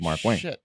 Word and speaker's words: Markwayne: that's not his name if you say wayne that's not his name his name is mark wayne m.w